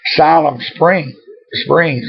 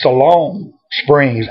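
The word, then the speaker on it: Siloam Springs: this town was and i said siloam spring springs i think and he said oh you pronounced it wrong it's salone springs i think so we both may be wrong and i'm the world's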